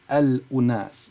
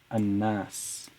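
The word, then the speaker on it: الناس: So it is not al-unas. That is perhaps said sometimes, al-unas, but it is more commonly the case that the alif here is dropped from pronunciation and also in writing. So if you would drop this letter from al-unas, what would it be? What would you say? It would be an-nas, like Surah An-Nas.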